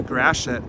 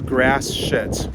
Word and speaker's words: Gratiot: not from the area that's pronounced a Gratiot which is also known as grass around here and OPC does